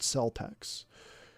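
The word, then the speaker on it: Celtx: it i'd recommend it it's spelled c e l t x one word celtex and it's pretty good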